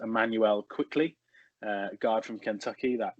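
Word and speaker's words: Immanuel Quickley: can correct me wrong i think it's just pronounced emmanuel quickly uh guard from kentucky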